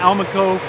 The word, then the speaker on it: Almaco: going to pop into the cab of the Alma Coe with Ray and see what it takes to